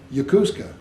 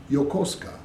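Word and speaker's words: Yokosuka: they say oh yeah I I stay in yakusa I'm up in yakusa yakusa would be spelled y a k u s u k a but it's not it's y o k o h yosa yosa see so that's yeah the fun the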